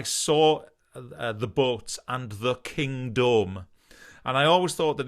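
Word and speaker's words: Kingdome: the boats and the king dome and i always thought that he was deliberately mispronouncing the word kingdom because it needed to rhyme with the word home in the next line kind of thing until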